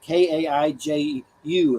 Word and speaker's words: kaiju: even know if I'm seeing that one right k-a-i-j-u it's like Godzillas and stuff am I pronouncing that right uh Wham or Stephanie kju